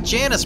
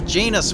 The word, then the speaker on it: Janus: to take some time Janus sounds dirty pronounce a Janis please because if you pronounce a Janus well then you know I mean you know cuz it sounds like anus anyway I should have